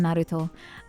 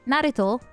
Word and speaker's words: Naruto: um example obviously from Naruto um Naruto is how you say it right Naruto but everyone says Naruto because American English Naruto Naruto Naruto but